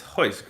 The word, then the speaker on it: Royce: earlier they're ours and double r's are pronounced like a h more right and so uh uh like one of the Legends in MMA Royce Gracie is Hoist Gracie and when I was